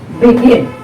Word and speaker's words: begin: Begin. Be, one syllable. Gin, second syllable. So now the stress is on the second syllable. Begin. You want to say begin. No. Begin. So second syllable you are stressing.